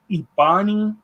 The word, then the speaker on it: Ebani: This particular UFO is called an Ebani UFO.